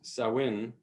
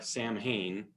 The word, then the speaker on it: Samhain: world holidays such as sawin which has a few different pronunciations throughout the gaelic world none of which are samhain is not only celebrated